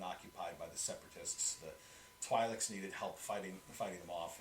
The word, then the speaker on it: Twi'lek: The Twi'leks needed help fighting them off, and so they sort of reluctantly let the clones come in to assist with that.